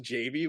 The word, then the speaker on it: Javy: they put out a project called it's it's pronounced Javy but I'm gonna call it Javy um and